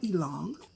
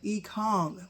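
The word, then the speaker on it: Ekong: Sam Elong, oh, wait, let me say it right, E-Kong, like King Kong, E-Kong. So I've been trying to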